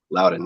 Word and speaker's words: Loudon: did watch your win at the is it pronounced Loudon? Loudon, yeah.